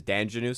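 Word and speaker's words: Dandjinou: It's spelled like Danjanu, like it's French, but everyone says Danjanu, so let's say Danjanu.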